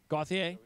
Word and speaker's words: Gauthier: Is that how you pronounce his name? Gauthier?